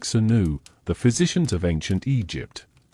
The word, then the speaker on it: swnw: They were known as SWNW, pronounced somewhat like Senu, the physicians of ancient Egypt.